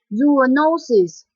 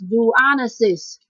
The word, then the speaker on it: zoonosis: o r example is zoonosis or it can also pronounce as zanis zoonosis is referring to